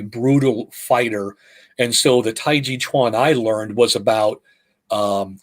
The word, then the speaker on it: taiji chuan: to train also in taiji chuan which is most people know as tai chi um incorrectly translated and pronounced because the chuan denotes